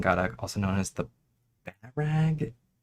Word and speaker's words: Bahrag: um, so basically, the Bow Rock Queens, Gadak and Gadak, also known as the Barag. I don't know how to pronounce it exactly. It's a weird word. Barag? Barag? Barag? It's Bahrag.